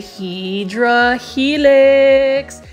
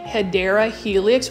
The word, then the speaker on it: Hedera helix: So I know that you guys are looking for me to say Hydra Helix, and for those that are new, I mispronounced the actual way of saying Hedera Helix, which means it's the